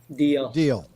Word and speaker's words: Deal: uh joining us uh delhi deal as in shut up and deal scott i think that